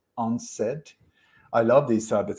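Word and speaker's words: UNCED: conference that was called u-n-c-e-d when when you pronounce it it's onset i love these type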